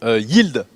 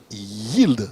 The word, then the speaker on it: Yeeld: C'est déjà comme ça qu'on prononce ? Absolument. Et c'est Voilà. déjà une première difficulté. Voilà, vous avez, on n'a pas que tout faux. Hein. Sur Exactement. Yield, on est bon. Y-E-E-L-D. Absolument. Alors, qu'est-ce que c'est ?